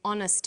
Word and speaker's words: honest: happy man but an honest man the H is not pronounced so honest sounds like